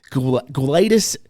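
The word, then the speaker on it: Gwladys: Guadis suthers.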